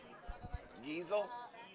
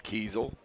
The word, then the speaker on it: Keisel: up this fourth quarter diesel diesel we were just corrected it's Keisel for the for the raiders